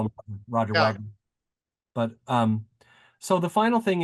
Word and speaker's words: Roger Wagner: And of course, he preferred his name pronounced Roger Wagner because he was his dad was French, and he actually fought, I think, in the French army during one of the world wars.